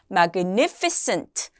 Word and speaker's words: magnificent: Magnificent. scent라고 발음을 해주세요.